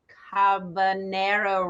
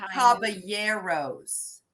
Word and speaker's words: Caballeros: you know the three carbonara rides you know the Donald Duck ride did I say it right no trying to rhyme with the habanero pepper three Caballeros okay so it is